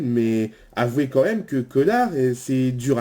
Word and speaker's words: Cosnard: On dit pas Cosdar, on dit connard. Comme par exemple on dit Doménil, Rodi Sous-Bois, le Chédé. On ne prononce jamais le S.